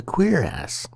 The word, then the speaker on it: cuirass: The piece of armor that covers the chest and back is called a cuirass. Yes, that's the word that made me giggle for 5 minutes.